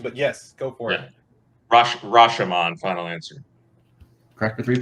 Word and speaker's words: Rashomon: trial and multiple multiple perspectives uh ryan that's rasherman yeah i was trying the pronunciation but yes go for it rashomon final answer crack the three points all right